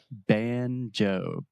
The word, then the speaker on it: banjo: Joe banjo yeah and we really exaggerate that moving vowel the o sound so we're not saying